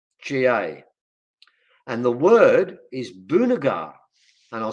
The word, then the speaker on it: Boonega: And the word is Boonega. And I'll spell that B-O-O-N-E-G-A.